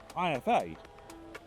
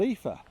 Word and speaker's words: IFA: But the only problem is I've been saying IFA all wrong. It's not called IFA, it's called Ether.